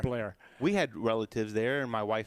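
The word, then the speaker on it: Bellaire: you pronounced it right blair yeah it's spelled bel-air but everybody pronounces it blair we had relatives there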